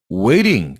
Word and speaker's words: waiting: 발음이 waitin 이렇게 발음했어요. waitin 이런 느낌으로 발음했습니다. 성문 폐쇄음 발음으로 발음을 했어요. 성문 폐쇄음. 왜 그 발음이에요. mountain이라고 발음 안 하죠? mountain. 이게 이 발음이 성문 폐쇄음 발음이에요. glottal stop이라고 하는데 waitin' 이라고 발음했습니다.